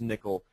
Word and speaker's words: N1QL: Um but yeah uh you once you play around the catchbates you can have a look up there N1QL pronounced nickel.